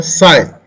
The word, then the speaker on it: psi: Then after phi, there is a C or psi. Dollar backslash PSI. P is a silent. P we do not pronounce, isn't it? P is a silent, just like the psychology in which first letter is P.